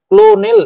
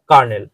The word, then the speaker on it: colonel: ক্লোনেল আমরা সাধারণত উচ্চারণ করি। কিন্তু এর সঠিক উচ্চারণ হবে কার্নেল।